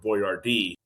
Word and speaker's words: Boyardee: And then he was like, well, Biordi isn't really, he doesn't come phonetically really well off the tongue. And he called it Boyardee.